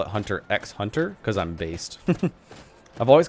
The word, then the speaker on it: Hunter x Hunter: I've always called it Hunter x Hunter. I think the first time I heard someone say Hunter Hunter, I was like, wait, are you not supposed to pronounce the X?